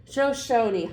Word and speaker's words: Shoshone: All right, so how do you pronounce it? Shoshone.